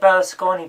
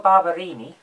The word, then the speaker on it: Barberini: But there's an Italian prince whose name I cannot pronounce. It's like, I want to say Berlusconi, but I know it's not, so I'm going to look it up. Hang on. It's Prince Urbano Barberini.